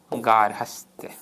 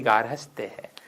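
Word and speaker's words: गार्हस्थ्य: आधा है के ऊपर गया और क्या बना गारहस्त और पृथक में यह जोड़ा क्या बना पार्थक्य अब अमूमन विद्यार्थी इसका उच्चारण गलत कर देते हैं ग्राहस्त करते थे जबकि गारस है र आधा है ठीक है तो अब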